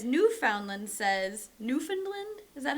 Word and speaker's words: Newfoundland: And he says, Newfoundland says-- Newfoundland? Is that how you say it? New-found-land. I'm going to say New-fin-land.